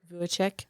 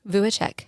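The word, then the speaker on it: Vujicic: Vuichek. Vuichek.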